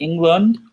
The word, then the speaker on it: Englund: Is it Robert Englund? Yes. It's like Lund because it's a U.